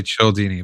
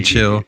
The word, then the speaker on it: Cialdini: Childini. Oh yeah, yeah, Yeah. yeah. But supposedly it's that H is silent, so it is Dini.